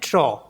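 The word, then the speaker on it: trop: जैसे टी आर ओ पी इसको पढ़ते हैं ट्रो ट्रो मींस टू मेनी बहुत सारे नेक्स्ट वर्ड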